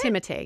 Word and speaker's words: Timothée: Timothée, yeah.